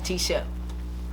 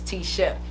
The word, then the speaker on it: T Shep: how that happened you know what happened bro t-shirt t-shirt t-shirt so what was you saying my name that's my name is t Shep you make sure you edit that out um